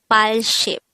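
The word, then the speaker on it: 팔십: the sign the korean translation of this is pile ship file means number eight and ship means 10 so it's the same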